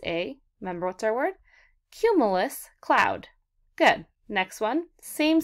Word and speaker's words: cumulus: say it cumulus alright let's count the syllables in the word cumulus are you ready ready cue ma yes how many syllables my friends that's right three cumulus has three syllables and cumulus is a really really